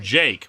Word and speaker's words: JK: is instead greeted by a student named JK pronounced Jake who's willing to give